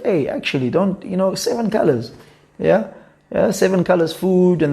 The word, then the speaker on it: Khalaz: Colors as in like colors as in like the English term colors, or the way that we actually the way that we pronounce it. Yeah. As black Khalaz. 7 Khalaz.